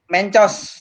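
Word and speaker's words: Mentjos: Mencos, jamu bubuk. Ya itu ejaannya pakai ejaan lama ya, MENTJ ya, TJOS. Mencos.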